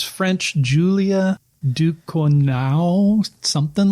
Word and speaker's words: Ducournau: Julia Ducournau, something like that. That did not sound French at all. No, it's Ducournau.